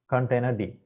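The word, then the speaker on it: containerd: Container D, that is how it's pronounced, D for daemon, is an industry standard container runtime with an emphasis on simplicity, robustness, and portability.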